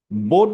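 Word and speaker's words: boat: ঠোট ভি ভি ভি যেমন আমরা যখন বোট উচ্চারণ করব তখন দুই ঠোট দিয়ে বোট বোট বোট বাট যখন ভোট উচ্চারণ করব ভোট ভোট ভোট ফলে খুবই সূক্ষ পার্থক্য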